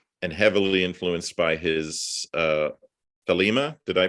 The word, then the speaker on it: Thelema: by Aleister Crowley and heavily influenced by his Thelema. Did I pronounce that?